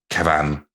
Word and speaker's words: Kevan: It's Kevin with an A instead of an I. So I presume that's... Oh. I assume it's pronounced, he's got a bit of a hit on it rather than just Kevin. Kevan.